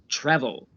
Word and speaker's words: travel: Which syllable is stressed when I say travel? Travel. Yes, the first syllable is stressed, the TRA, travel.